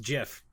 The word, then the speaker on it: GIF: like that yeah yeah tip on Groupon it's pronounced jiff as long as we're fighting pineapple on pizza